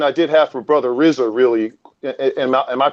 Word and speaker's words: Rizza: But one question I did have for Brother RIZZA, really, am I pronouncing that correctly, brother? Brother RIZZA. Yes, brother RIZZA.